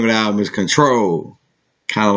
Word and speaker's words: CTRL: But this album is called Control. Control, and it's spelled CTRL, like on the keyboard.